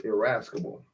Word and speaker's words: irascible: Irascible. IRASCIBLE. I think it's irascible. Like a rascal.